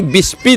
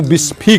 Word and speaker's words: बिस्फी: के नाम पर ही विस्पी नाम पड़ा इसका जो अंग्रेज आए तो विस्पी का सही उच्चारण नहीं कर सके तो बिस्फी कर दिया और तब सेय ब